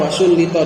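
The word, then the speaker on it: وسُلِّطَ: Wa yuzadu alaihi, dan perlu ditambahi lagi definisinya, bihaitsu law faragha dzalikal amilu min dzalika dhamiri wa sullita, bacanya wa sullita ditasydid dan di di majhul, wa sullita alal ismi sabiqi lana sobahu.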